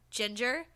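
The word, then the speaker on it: Jinger: I didn't even know that it was, like, pronounced Ginger, because that's not how you spell fucking ginger.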